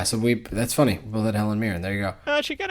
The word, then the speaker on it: Helen Mirren: That's who I had, Helen Mirren. Oh, nice. Yeah. Yeah. Oh, am I saying her name wrong? Yeah. Yeah, Helen Mirren.